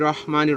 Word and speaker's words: রহমানির: কারণ আপনি বিসমিল্লাহির রহমানির রহিম, র আরবি হরফের 29 হরফের মধ্যে একটি হরফ হচ্ছে র, আর এটি হচ্ছে র।